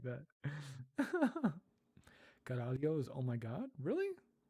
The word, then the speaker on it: caralho: Caralho. Caralho.